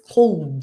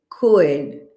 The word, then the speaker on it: could: They say something like this cold. C could this is incorrect. We don't pronounce this L. The L is silent. So we say could I could swim.